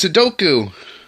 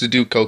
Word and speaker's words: Sudoku: The game that people always seem to pronounce Sudoku because they can't seem to be able to pronounce it correctly, even though clearly the O is before the U, so it's technically pronounced Sudoku.